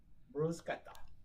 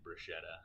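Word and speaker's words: bruschetta: definition yeah yeah but yeah it's delicious Gretta brusketta yeah yeah we pronounce it wrong by saying brushetta well that's Engish like no that's Brett man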